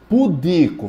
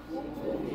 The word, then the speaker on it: pudico: rúbrica joga uma pedra pudico fale pudico não não é pudico não pudico p pudico é porque associa muito a pudim O que é uma